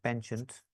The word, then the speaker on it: penchant: will probably pronounce it penchant it's a French word pronounced as p uh generally you can still call it pensent I think most American